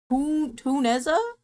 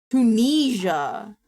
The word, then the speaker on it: Tunisia: Tuneza?